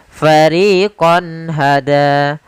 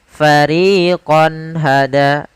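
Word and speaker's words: فَرِيقًا هَدَى: Pada kata fariqon hada, di sini ada fathatain atau tanwin bertemu dengan ha, maka suara konnya harus jelas, tidak boleh ditahan dengan gunnah.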